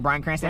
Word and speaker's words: Bryan Cranston: So Bryan Cranston. That's how you say his name, Cranston.